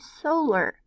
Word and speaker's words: solar: So if I make my syllable break here and have the long O sound, solar.